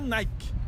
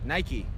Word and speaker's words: Nike: Então no Brasil a gente fala Nike. Nike. Só que não é Nike. É? Nike. Tem que pronunciar Just do esse sonzinho no final.